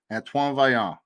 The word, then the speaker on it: Antoine Vaillant: Antoine Vaillant.